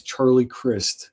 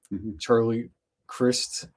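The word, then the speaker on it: Charlie Crist: Any I mean Charlie Christ spelled like Christ but pronounced like Chris.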